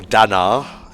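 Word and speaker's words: Dannagh: So yeah, this is the Danak Desert. More names? Or Danar, if you want to pronounce it correctly.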